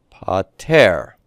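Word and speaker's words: πάτερ: In the Lord's Prayer, it becomes pater. Notice that we have vowel change, right? It goes from a long E to a short E.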